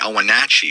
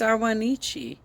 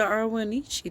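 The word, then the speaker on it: Ahwahneechee: to forcibly remove the owenachi from The Valley in the 1850s and wait why did you say it correctly the first time and incorrectly the second in time it's arwanichi it's the irwinichi tribe look seriously like how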